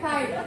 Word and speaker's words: tithe: Dibacanya tithe.